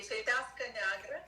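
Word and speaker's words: Fetească Neagră: Est-ce que tu peux les prononcer pour nous? C'est Fetasca Negra.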